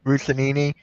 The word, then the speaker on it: Russini: I just saw this from I can't pronounce the name. Russinini, whatever.